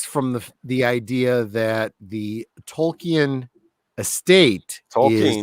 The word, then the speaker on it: Tolkien: Tolkien's The Hobbit and The Lord of the Rings,